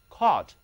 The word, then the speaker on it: court: 其中的 o-u-r 读作 o。 courtroom 是哪儿呢？ court 法庭， room